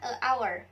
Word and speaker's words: hour: hour for dinner Hai Nah kita harus menggunakan and our bukan our karena soalnya diawali oleh huruf vokal yaitu seperti Huruf a